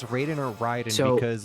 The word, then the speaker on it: Raiden: Um but yeah, I I always like, "Oh man, it's Raiden." But I didn't I I I was actually just thought I was mispronouncing it. And then everybody was like, "No, it's Ryden."